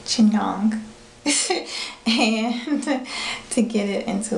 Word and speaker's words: chignon: I'm going to do a bit of a chying that's not pronounced right Chong and to get it